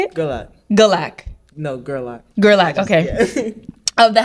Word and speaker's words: Gerlach: No, Gerlach.